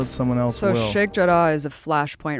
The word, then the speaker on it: Sheikh Jarrah: Sheikh Jarrah.